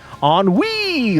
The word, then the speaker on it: ennui: Ennui, like pee.